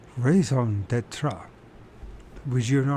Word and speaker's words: raison d'être: For reference, in French we would say it as raison d'être. Raison d'être. Raison d'être.